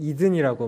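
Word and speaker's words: Eden: 이든은 에덴을 영어식으로 읽을 때에 에덴이라고 읽지 않고 영어권 사람들은 이든이라고 말하거든요.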